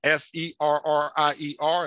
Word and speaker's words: Ferrier: that they came from, F-E-R-R-I-E-R, and that's how you would pronounce it, kind of like that water we, you know, some of us drank Perrier water, Ferrier.